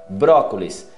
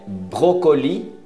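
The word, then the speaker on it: brocoli: Brócolis é brócoli, não pronuncia o S, brócoli.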